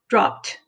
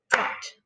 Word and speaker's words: dropped: Now it follows a pattern, but remember the P is unvoiced. It doesn't vibrate, so it makes a t sound. So it's dropped, dropped, one syllable.